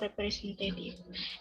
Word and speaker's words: representative: represent that if word is stressed on the third syllable representative and the word purchase